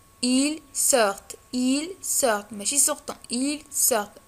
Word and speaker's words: sortent: sortent ils sortent ماشي sortent ils sortent ou un t ne prononce pas ma كتنطقش.